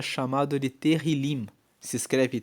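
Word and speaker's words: Tehilim: No na Bíblia original, na Bíblia hebraica, o livro de Salmos é chamado de terrilim. Se escreve T E H I L I M. E terilim quer dizer louvores.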